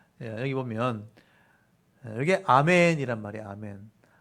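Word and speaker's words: אמן: 보면 여게 아멘이란 말이야 아멘 알렙 눈 이래가지고게 아 발음이고에 발음이에요 그니까 아멘 이렇게 하는 거예요이 아멘이란 말이 확실하다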